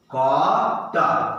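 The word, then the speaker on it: caught: यहां पे GH क्या हो गया? चुप। GH को मैं चुप करा देता हूं। GH चुप हो गया। साइलेंट, है ना। इससे पहले हम लोगों ने बहुत सारा साइलेंट वाला देखा था ना। GH साइलेंट, तो क्या होगा? ट। कॉट, क्या हो गया?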